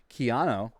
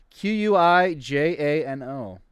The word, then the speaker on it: Quijano: name i can't pronounce keanu spell that q-u-i-j-a-n-o i have it written down uh spell it again one more time sorry q-u-i j-a-n-o uh quijano quijano thank you i'm certain